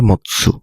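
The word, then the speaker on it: 持つ: অনের উদাহরণ হচ্ছে কি, বা অনের রিডিং হচ্ছে জি, আর কুনের রিডিং হচ্ছে মৎসু, হ্যাঁ মাতসু না মৎসু।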